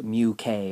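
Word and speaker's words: μk: full responsibility for it so this is actually pronounced mu k and my joke would be is like if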